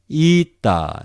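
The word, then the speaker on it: ἦτα: In seminaries, they pronounce a, also long a, but in modern way, it is eta. I say again, the name eta is not important, but you have to pronounce it eta.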